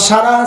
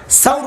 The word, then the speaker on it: সাউর: সাউর গুহা। হেরা গুহায় তো ওই পাইছে, ওই যে লুকাইছেন 3 দিন। কোন গুহা? সাউর। হ্যাঁ, সুর করেন না, এটা ভুল উচ্চারণ করেন। সাউর গুহা 3 দিন লুকাইছেন।